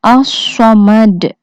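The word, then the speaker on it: الصمد: As-Samad terdiri dari alif lam, sod dengan tasydid dan harokat fathah, mim dengan harokat fathah, dan huruf dal dengan harokat dhamma. Dibacanya As-Samad.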